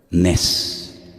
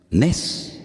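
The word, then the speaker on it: נס: Nes. Nes.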